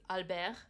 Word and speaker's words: Albert: King Elizabeth though um technically it's Alber like pronounced French it don't get me